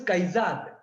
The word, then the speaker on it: Kaizad: If your name is Kaizad, your name is divided again into 2 syllables, Kai, Zad.